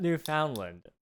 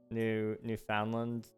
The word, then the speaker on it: Newfoundland: Newfoundland. Pronounce it like that and you're good. But it's found. It's not just found. Newfoundland? More like Newfoundland. That's an interesting one. I'm sorry, it's found though. It's Newfoundland. I dropped the D on